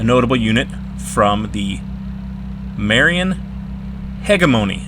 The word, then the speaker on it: hegemony: unit from the Marian Hegemony. And I pronounce hegemony with a hard G because it's a Greek word that's spelled the same and everything, and I don't like pronouncing it with the soft G.